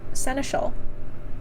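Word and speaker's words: seneschal: does that mean okay let me figure out how to pronounce this senal oh I was saying right senal okay okay so she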